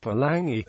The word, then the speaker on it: palagi: kiwi palagi the term term palagi pronounced palangi is Samoan in origin